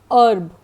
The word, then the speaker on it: herb: Now the words with silent h, like hour, HOUR, air, HEIR, herb or honor.